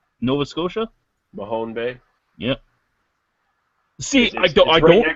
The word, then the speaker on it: Mahone Bay: Company is going to be opening up in Mahoney Bay Nova Scotia Mahone Bay yeah see I it's it's right next to